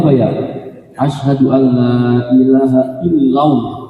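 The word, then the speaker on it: إلا الله: Asyhadu alla ilaha illallah. Bukan illau. Kalau illau sekali lagi itu kita menambahkan waw sukun artinya. Kalau menambahkan waw sukun itu tidak boleh dan tidak sah.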